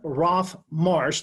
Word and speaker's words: Roff-Marsh: hey so today we have Justin Roth Marsh that I pronounce that correctly you did alright perfect so